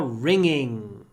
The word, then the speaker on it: ringing: The bells are ringing. Remember, ng is pronounced with an open mouth and the tip of the tongue behind the bottom teeth. Ringing, ringing, ringing.